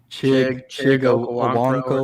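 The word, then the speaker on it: Chig Okonkwo: Chig Owonkwo or something.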